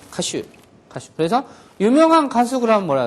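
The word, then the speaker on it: 歌手: 가수인데 우리는 가수인데 얘네들은 가슈라고. 가슈. 그래서 유명한 가수 그러면 뭐라 해야 돼? 유메이나 가슈 이렇게 하면 되죠.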